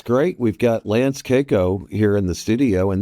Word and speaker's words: Cayko: So, and one icebreaker I want to give you, Mark, is my last name is actually pronounced Cayko, and you can say that with full authority.